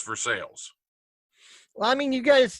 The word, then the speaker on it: Versailles: we have a Versailles, which is spelled just like Versailles, but in Ohio it's Versailles.